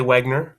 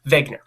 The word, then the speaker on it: Wegener: that is Alfred Wegener I know it's pronounced with the V but it's spelled with the W if you say Wagner I won't correct you